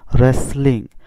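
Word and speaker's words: wrestling: ডব্লিউর পরে এস বা আর থাকলে ডব্লিউর উচ্চারণ হয়নি, তাই এখানে হয়েছে রেসলিং, অর্থ কুস্তি।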